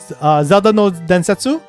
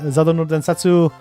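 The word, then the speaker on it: ゼルダの伝説: Zelda no Densetsu. So that's how you say it in Japanese. Zelda no Densetsu.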